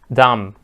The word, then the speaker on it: dumb: dumb questions stupid questions dumb okay the B is Silent not pronounce it guys where the space